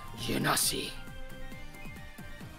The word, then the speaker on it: Genasi: Mira, dice: llega tu hora, Genasi. Me lo han dicho otras veces. ¿Te queda la bonus? Sí. Pronuncia con G fuerte.